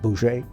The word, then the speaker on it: Bose: There were the Gandhi types, who were nonviolent, and then there was a Chandra Bose, who it's spelled B-O-S-E, but it's pronounced something like Boucher.